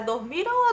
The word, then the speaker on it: dormiram: Ele diz assim: finalmente as crianças dormiram. Ou a pronúncia é dormiram ou dormirão? É com a M, tia, então é dormiram.